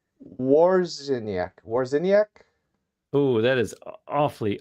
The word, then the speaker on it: Wawrzyniak: it's Wawrzyniak, Wawrzyniak. and funny enough, a lot of people not only mispronounce it, but get so tripped up that they start adding SKI at the end.